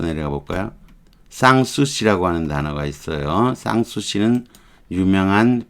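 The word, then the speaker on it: Sanssouci: 쌍수씨라고 하는 단어가 있어요. 쌍수씨는 유명한 프랑스의 궁정이에요. 근심 없이 지낼 수 있는 쌍수씨. 요거 알파자 있는 거는 N자까지 넣어서 발음을 하는 거예요. 불어 발음인데 쌍수씨 이렇게 발음해요.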